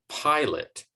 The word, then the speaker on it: pilot: Same with agree or pilot. In the case of pilot, it's the second syllable that receives the unstressed vowel sound because the first syllable is stressed.